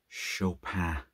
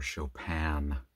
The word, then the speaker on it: Chopin: a story here from Kate chopan or chopan depending on if you want to go with the serious French pronunciation or the more casual